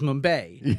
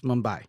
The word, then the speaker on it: Mumbai: short, Uber X, where one of the characters mispronounces Mumbai. Yeah. And he says Mumbai. Yeah. And there's a back and forth where the guy's like, no, it's Mumbai.